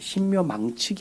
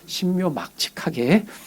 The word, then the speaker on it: 신묘막측: 발음을 잘 하셔야 돼요. 신묘망측이 아니고 신묘막측하게 지으셨습니다.